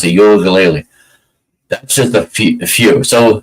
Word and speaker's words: Uiagalelei: Oregon State's quarterback, DJ, I'm going to really ruin this name, Uiagalelei. I think that's how you pronounce it, Uiagalelei.